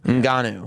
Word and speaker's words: Ngannou: How do you pronounce his name? Francis Ngannou. Ngannou.